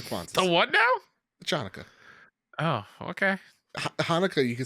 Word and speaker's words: Chanukah: The Chanukah. Oh, okay. Hanukkah, you can spell it with a CH.